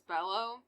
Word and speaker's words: Below: suspect is christopher bellow it's spelled below but i read it as bellow so christopher bellow which